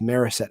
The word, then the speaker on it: Morissette: really like him and cody morissette or i've heard it pronounced meriset as well who had a slow